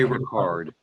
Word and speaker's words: Ricard: Rene, I don't know if he went by Ricard or Ricard. Rene Racard is how he pronounced it.